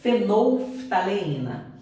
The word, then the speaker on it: fenolftaleína: Às vezes vocês podem ter uma certa dificuldade para pronunciar essa palavra, mas é fenolftaleína.